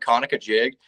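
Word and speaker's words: Conococheague: It was called Kanuka jig, but it's spelled C O N O C O C H E A G U.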